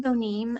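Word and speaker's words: Bonime: miller uh next it will be uh bonai um this and if i'm mispronouncing your name i'm sorry um i've unmuted you can you hear me miss bonai yes my name is bonim i live in albuquerque new mexico okay thank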